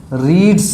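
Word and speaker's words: read: Third form, रीड्स है, तो रीड का थर्ड फॉर्म प्रोनाउंसिएशन चेंज होता है लेकिन उसकी स्पेलिंग वैसे ही होती है, तो इसलिए यहाँ पर रीड, रेड इस प्रकार से तो उच्चारण उसका किया जाता है, लेकिन उसकी स्पेल जो होगा वो वैसे ही होगा, ए नॉवेल इज रेड।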